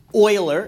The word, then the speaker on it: Euler: talking about it you know with your friends oiler is how it's pronounced so from the book G is for